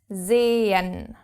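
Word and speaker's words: zehn: see which in German is zen zen. You can see here the h right in the middle. But you don't say zen because its only purpose is to prolong the first e.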